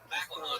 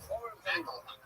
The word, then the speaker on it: McElhoney: Macklehone. It rhymes with tackle zone. That's what I said. Macklehone.